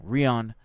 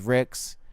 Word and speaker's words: Rix: I keep saying it wrong. Rion. This is Rix.